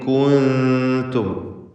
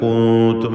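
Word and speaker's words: كُنتُم: എന്നാൽ ഇവിടെ ഇൻ കുൻതും, ചിലർക്ക് അബദ്ധവശാൽ കൂത്തും എന്ന് എന്ന് കാഫിൻ്റെ ദമ്മുച്ചരിച്ച ആ ചുണ്ടിൻ്റെ വൃത്താകൃതി അങ്ങനെ തന്നെ തുടരും. അങ്ങനെ വരരുത്. നൂനിന് സുക്കൂനാണല്ലോ. കൂ എന്ന് നൂനിൻ്റെ ഉച്ചാരണം എങ്ങനെയാണോ അതിലേക്ക് ചുണ്ടിനെ കൊണ്ടുപോകണം. കുൻതും, പിന്നീട് ദമ്മുള്ള ത ഉച്ചരിക്കുക എന്നതാണ്. കുൻതും ഫാഇലീൻ, സാക്കിന തമീമും ശേഷം ഫാവുമാണ്.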